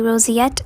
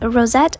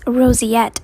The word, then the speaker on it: roseate: So um you have to kind of pronounce it as se.